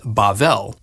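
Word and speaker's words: בבל: Babylon in Hebrew is pronounced Bavl and is sometimes translated Babel.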